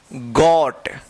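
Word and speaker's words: got: तो इसका रूल कि जब दो कंसोनेंट के बीच में ओ रहता है तो ओ ओ का औ उच्चारण होता है।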